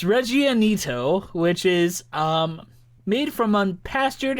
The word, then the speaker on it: Reggianito: You can't even pronounce it! It's Reggianito, which is made from unpastured and unpastured cow's milk, and it is from Argentina.